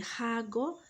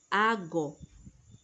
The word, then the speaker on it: hago: Notice I did not say hago, I said hago. Porque en español, la letra H, the letter H, is silent.